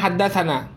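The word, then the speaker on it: حدثنا: Haddatsana itu bacanya haddatsana. Na itu artinya bacanya haddatsana, atau sana bacanya juga haddatsana.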